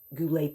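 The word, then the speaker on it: Goulet: Uh I wonder if he's kind of Robert Goule because I met Robert Goule when I played in Vegas years ago. But anyway, there's a young man that has Goulay pens spelled the same way and he has very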